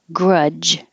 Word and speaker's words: grudge: perplexed you look perplexed Grudge the dge is just a j sound I don't hold a grudge and your tongue has to press against the top of your mouth completely and block the airflow Grudge consciousness consciousness serendipity